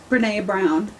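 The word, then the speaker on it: Brené Brown: Brene Brown.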